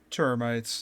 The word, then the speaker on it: termites: Termites. There's no H. Thermite is a substance, an explosive substance.